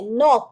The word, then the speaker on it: knock: हम जब बोलते हैं knock तो उसमें K जैसे silent है.